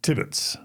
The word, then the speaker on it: Tibbets: Today, we have with us Tibbets.